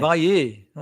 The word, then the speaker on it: Valle: great to have Valle, is that how you pronounce that? I said Valle. Apparently. Valle.